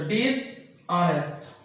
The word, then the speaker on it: dishonest: को क्या करते हैं, एज को साइलेंट कर देते हैं, उसको अ का उच्चारण करते हैं। तो डिसऑनेस्ट, आप बेईमान नहीं थे।